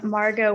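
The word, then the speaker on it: Margaux: marguerite please unmute yourself state your name and spell it for the record hello i'm margo m-a-r-g-a-u-x i currently live across the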